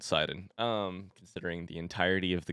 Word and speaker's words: Sidon: The comments have told me that that's how you pronounce it. Sidon. Sorry for making your ears hurt by saying Sidon.